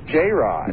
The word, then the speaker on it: Jared: whoever Jared is uh that's pronounced j-rod J Rod I'm sorry that's first